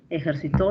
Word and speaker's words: ejercitó: Entre ejercito y ejercitó, el acento cumple función distintiva.